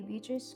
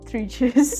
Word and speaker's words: Beatrice: Exactly, because the C can be pronounced Maltese C, ch, or English C, and Beatrice. But Beatrice is the way that the Italians say it and the Maltese say it.